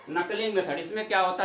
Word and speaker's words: knuckling: इसको हम लोग इंग्लिश में नकलिंग विधि के नाम से जानते हैं। इसकी के साइलेंट होता है इसमें, KNUCKLING, नकलिंग मेथड।